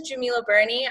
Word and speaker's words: Djemilah Birnie: and clarifying that um so my name is Jamila Bernie I am a business coach I'm a neuro